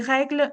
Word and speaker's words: règle: Ils ont écouté les règles du sport Règle, there's an accent, a grave accent on the first E because that's the way I pronounce it. Règle, règle, règle. Without any accent, the pronunciation would be règle, règle, règle. That is something I cannot pronounce.